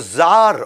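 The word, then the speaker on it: czar: जार कौन होते हैं? ये लगभग राजा महाराजा जैसे लोग होते हैं रशिया के अंदर, उनको जार बोला जाता है। वैसे सी जार होता है लेकिन सी साइलेंट होता है, ये इंडियन आईटी इंडस्ट्री में।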